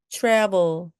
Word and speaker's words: travel: 여행, travel, travel, travel. T와 R이 같이 와서 마치 chew처럼 발음해 주시면 됩니다. 입술을 쑥 내밀고서 발음하셔야 됩니다.